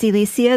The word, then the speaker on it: Elecia: uh almost always and my name is spelled e-l-e-c-i-a like electricity there are two e's at the beginning well not around right at the beginning that's true e-l-e-c-i-a but you can say it like that it's true if you can imagine two weeks at the beginning and it's Elysia there's no sh and uh if you